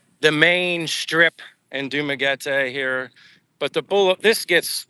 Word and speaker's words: Dumaguete: So instead of using my English accent, where I before would say Dumaguete, it's Dumaguete.